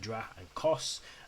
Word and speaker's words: Dracos: His pronunciation is, as I've been saying it, Dra and Kos.